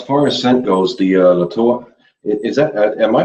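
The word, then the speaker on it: La Toja: Since it is a Spanish soap, always kind of, the J always gets pronounced kind of like an H sort of, Latoa.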